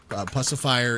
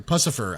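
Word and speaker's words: Puscifer: So, and then finally, uh, Pusifier, uh, is coming out with a new album sometime winter 2025. Uh, Pacifier is or Pusifer, I should say, is is how you pronounce it.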